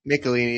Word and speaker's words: Michelini: Yeah, Michelini.